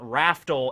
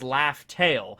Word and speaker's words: Laugh Tale: before in the manga the way that laugh tale was actually supposed to be pronounced and spelled it wasn't raftal it was laugh tale and you know a